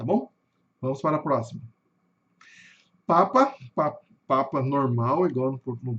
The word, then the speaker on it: Papa: Lembrando que a sílaba tônica aqui nesse caso tá no começo.